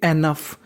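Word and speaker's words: enough: Code क्या है, यू जी एच, यू जी एच को हम लोग पढ़ते हैं फा, क्या पढ़ते हैं फा, तो मीनिंग बन गई एनफ, एनफ का मतलब होता है पर्याप्त।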